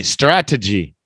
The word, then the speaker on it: strategy: Strategy. Yeah, that's good. Tony, strategy. The stress is in the beginning.